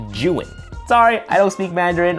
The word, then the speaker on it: Zhiyun: By the way, it's pronounced Juin.